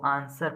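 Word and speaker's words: answer: Think tank mirror mirror के सामने चूमते हुए, क्विकर फटाफट बोलो आंसर, इसको आंसर पढ़ेंगे डब्ल्यू साइलेंट, ठीक है आंसर।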